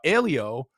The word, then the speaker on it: Aleo: Alio, like Paleo. You you already taught me before we started. Uh, Alio and Provable, uh, from the crypto world.